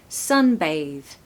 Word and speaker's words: sunbathe: a breathy Airy th no it's a voiced th so sunbathe sunbathe stress the first syllable and as you can probably hear there's an alphabet a sound in that word so make sure you make it sound like the letter A in the alphabet Sun Bay a a